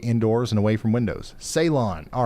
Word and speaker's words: Ceylon: Salem? But yeah, it's north of Dolliver here in Martin County, Minnesota. You guys want to get indoors and away from windows. Ceylon. All right. Ceylon.